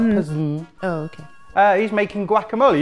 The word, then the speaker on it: PES: Going against the grain of the mmms, it's Pez or Pes. There's no mmm there. P-E-S. Mmm. No, not mmm. Yeah, I just added it. Not Pez-mm.